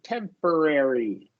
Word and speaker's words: temporary: And then here we want to do a schwa r here, temporary. Temporarily. Yeah, temporary. Like a schwa for the O, you mean? Correct. Temporary. Yeah. And then a short E for the A, temporary.